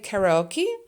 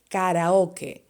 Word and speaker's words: karaoke: and in spanish but the pronunciation is slightly different in english you would say karaoke and in spanish you would say karaoke and there is some